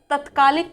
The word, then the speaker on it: तात्कालिक: ऐसे ही तत्कालिक कोई शब्द नहीं होता बल्कि होता तात्कालिक। क्या होता है, तात्कालिक। ध्यान देंगे, इसका उच्चारण ऐसे ही करना है। कैसे करना है, ये क्या लिखा है, तात्कालिक।